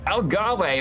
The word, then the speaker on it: Algarve: Algarve, or indeed Algarve, depends how you say it, is for round